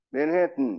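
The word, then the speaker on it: Manhattan: 그래서 맨하탄이라는 것도 맨하튼, 맨해튼 이렇게 해야지. 맨하탄 이렇게 얘기 안 합니다.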